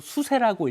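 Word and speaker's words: 休書: 뭐 이럴 수가 있으니까 뭔가 증명을 해야 되는데이 증명서 이혼장이라고 하는 것을 한자로 휴서라고 쓰고 우리말로 수세라고 읽어요.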